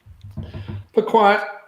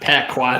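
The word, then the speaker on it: piquant: Pquat uh not pacqua. They even correct my pronunciation of it.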